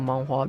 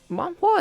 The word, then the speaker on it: manhwa: Manhwa is just okay, if you consider it like the Japanese word manga, manhwa is literally that, but you pronounce it in Chinese instead of Japanese.